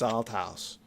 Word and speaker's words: Althouse: is my name is Alt House and I'm not going to let this go. You need to pronounce it correctly. That's al house.